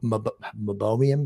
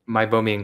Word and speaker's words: meibomian: awesome i did not know about the mobile mobium glance how do you say that again meibomian glands yeah oil blends yeah the oil blends